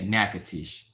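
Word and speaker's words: Natchitoches: Nacatish is how it's pronounced, but they spell it different.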